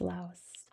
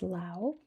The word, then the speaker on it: Laos: Official language is Lao. Which is how you pronounce this in Laos in English. In English we pronounce the S. Not every language does though, including theirs.